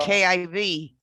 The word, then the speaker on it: Kiev: Kiev. So it's Kiev. So it's, But they pronounce it one syllable just about now. Yeah, key. yeah. Learned it two Yeah. syllables. Yeah, right. More like well, KIV.